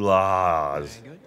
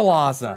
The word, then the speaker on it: Lhasa: My journey to Laz. I want to go there. You pronounced that so wrong, Jack. Oh, I want to go to Lhasa.